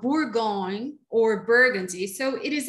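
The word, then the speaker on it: Bourgogne: to burgundy okay so um let's see how bourgoin or burgundy so it is exactly the same thing okay just borgon is the french pronunciation burgundy is the american or the english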